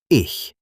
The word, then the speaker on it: ich: Another difficult sound is ch, like in ich, which in English means I. It is soft, not harsh, almost like air gently passing.